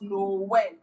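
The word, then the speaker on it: Noël: When you spell Noel, there's two dotted sign on O. It's just that people don't put it, but it's in the French word, and that's how we pronounce Noel.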